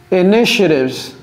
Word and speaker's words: initiatives: Of our marketing initiatives. OK? Initiatives. Ce mot n'est pas facile à prononcer. Initiatives. Ce n'est pas initiatives. C'est initiatives. Initiatives. OK?